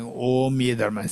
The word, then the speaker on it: Om: So in Buddhism, this Om, how this word syllable Om is constructed or is constituted, is constituted of 3 letters, A, U, Ma, 3 letters. And these 3 letters, they combine together, it becomes Om, not And you may think